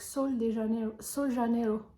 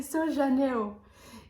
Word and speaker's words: Sol de Janeiro: Sol de Janeiro. C'est comme ça qu'on prononce. Moi, entre guillemets, je l'appelle Rio de Janeiro. C'est Sol Janeiro.